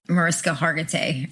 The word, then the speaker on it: Mariska Hargitay: I mean, we need like Mariska Hargitay.